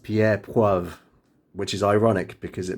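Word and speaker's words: Pierre Poivre: tricked terrible then in 1770 a frenchman named pierre poith that's pronounced pierre puev which is ironic because it means pepper and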